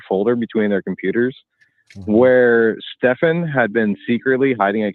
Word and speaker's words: Stephan: do people keep calling him Stefan instead of Stephen and that's because um the way it is spelled and the way the the friend who knew him pronounced it was Stefan hey B so all right so his friends